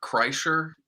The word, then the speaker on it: Kreischer: Bert Kreischer, I think is how you say his last name.